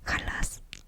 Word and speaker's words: jalas: ¿Jalas?